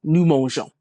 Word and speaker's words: mangeons: So the E is just added to soften the G, doesn't Mhm. really factor in as far as pronunciation. We're just going nous mangeons.